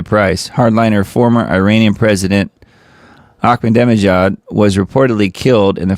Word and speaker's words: Ahmadinejad: Ahmadinejad, I think.